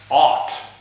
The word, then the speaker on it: aught: in a row and an old method Old English method of pronouncing it is for aught and it's a ugh